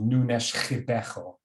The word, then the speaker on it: Nunes Ribeiro: Again, I'm told this should be pronounced Nunes Ribeiro.